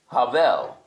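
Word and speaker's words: הבל: name in Hebrew kayen his brother Abel is Havel they're all Hebrews they're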